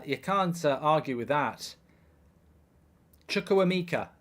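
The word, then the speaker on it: Chukwuemeka: can't argue with that chukuamika I think his name is chukwumika I don't know how you pronounce it but first senior goal I believe they brought him in from Aston Villa for good money and uh chuck woo Mika is how you do it says bkg and I tell you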